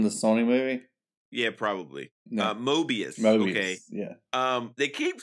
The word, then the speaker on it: Mobius: you say his name it's like a Mobius strip you know what a mobus strip is right I said Mobius you said morbius okay isn't that the